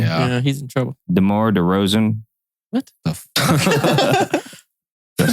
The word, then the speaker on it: DeMar DeRozan: DeMar DeRozan.